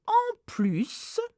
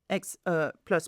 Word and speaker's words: plus: So if it's more, you have to pronounce the S of plus. So en plus, plus, plus, plus, ma mère peut être, again, maybe, assez sévère.